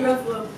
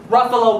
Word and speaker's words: Ruffalo: Sure is, but SUNY Ruffalo. Lucy Liu started Lucy LA. I wanted to shape young minds too, so that's about the time when I realized my last name rhymes with buffalo.